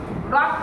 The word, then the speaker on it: রক্ত: রক্ত আমরা যদি উচ্চারণ করতে যাই, রর সাথে আগে ক উচ্চারণ করবো না তো? ক, ভেরি গুড। উপরেরটা আগে আমরা উচ্চারণ করি, তাই না? রক্ত। কিরকম করি? রক্ত। খালি রর পরেই আমরা ক, ক উপরে আছে কটাই আগে উচ্চারণ করি।